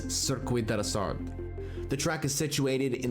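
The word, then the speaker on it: Circuit de la Sarthe: The event takes place at the circuit deasar and the correct pronunciation for this track is cirquid deasard.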